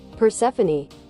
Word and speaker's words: Persephone: Persephone. Persephone. It's like Stephanie at the end.